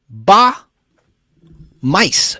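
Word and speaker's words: Bas Muys: John Lennon's parts were sung by Ba Mice, which is spelled B-A-S, the S is silent. Last name is spelled M-U-Y-S. Sounds like mice, Ba Mice, of the 1970s Dutch pop group Smile, spelled S-M-Y-L-E instead of S-M-I-L-E.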